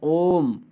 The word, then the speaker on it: ओम: उदाहरण के लिए, एहि कृष्ण अत्र गौः चरति, और ओम। ओम में जो ओ है वह पुलुत है, इसीलिए ओ का देर तक उच्चारण करते हैं, ओम, इस तरह से।